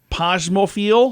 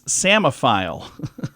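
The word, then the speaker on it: psammophile: say it so I wasn't even close uh posmo I'm not saying that right either it's a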